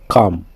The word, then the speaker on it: calm: c'est les manchettes cf cal genre calme-toi on dit pas calme on dit cal cho c'est la crée